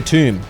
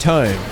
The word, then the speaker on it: tome: And he'd be like, "I'm buying the tomb. Let me read that tomb." Fred, if you're watching this, it's about time I broke it to you. It's pronounced tome.